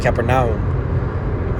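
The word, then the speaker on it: Καπερναούμ: all right would be the correct pronunciation in the greek kaepernick all right and when you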